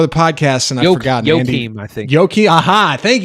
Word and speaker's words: Joachim: That's not how you pronounce it. Joachim. I looked it up before the podcast and I forgot. Joachim, I think.